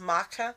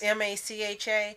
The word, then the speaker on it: Macha: probably pronounced differently because the Celtic language is a very odd language. So it's probably not pronounced Matcha. Right, probably but not it's Macha.